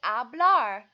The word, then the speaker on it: hablar: agua hablar an excellent job not pronouncing the H awesome like hablar hablar is actually to